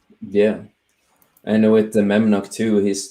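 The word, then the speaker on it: Memnoch: It's not Memcock. It's Memnock.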